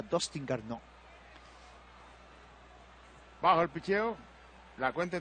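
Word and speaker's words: Garneau: pronuncia Garnó, Garnó, Garnó, se pronuncia Dustin Garnó.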